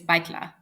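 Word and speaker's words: Баяртай: Well, I only know the formal way, which is baitla.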